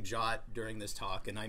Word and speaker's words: JWT: And in 7519, you will learn that the official pronunciation for JWT is Jot. So I will periodically be saying Jot during this talk and I mean JSON web tokens.